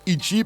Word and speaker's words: Ixi: Ixi, ça s'écrit I-X-I et ça se prononce Ichi parce que le X en portugais on dit chi. On se prononce che.